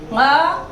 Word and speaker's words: ङ: और ग, घ, ङ इसको क्या कहा है? घोष। इसका उच्चारण देखिए, कई लोग इसको नीचे बिंदी लगा के ड बोल देते हैं, ड़ बोल देते हैं, लेकिन वो गलत उच्चारण है, चूंकि ये क वर्ग का पंचम वर्ण है।